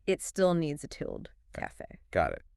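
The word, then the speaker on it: café: Well, remember that word we mentioned earlier, cafe. Cafe. It's a perfect example of an exception that proves the rule. So the stress is on fe.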